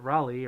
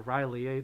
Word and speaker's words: Rawry: So, those of you who don't know, Rawry or Riley, depending on how you say it, they are the cutie with the pink glasses.